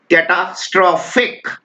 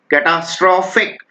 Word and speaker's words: catastrophic: आप इसको प्रोनाउंस करना आराम से, कैटास्ट्रोफिक, स्ट्रोफिक इकट्ठा प्रोनाउंस किया जाता है, कैटास्ट्रोफिक, कैटास्ट्रोफिक।